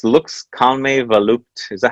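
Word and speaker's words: Volupté: accent on volupte because in French, when you use cap letters, you can avoid using accent, but nobody's pronouncing it correctly. So Okay, I'm going to say Volupte. volupte. Volupte. Yes. All right, Volupte.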